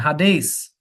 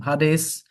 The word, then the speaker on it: Hades: His name was Death, and Hades was with him. Hades is what we call Hades. We mispronounce the word.